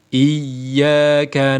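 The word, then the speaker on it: إِيَّاكَ: fatal kan ya fatal jadi yang benar tasdid jangan lupa ya dan lebih baik lagi ketika ynya diberi Nabar diberi hentakan diberi hentakan seperti ini iyyaka na'budu wa iyyaka n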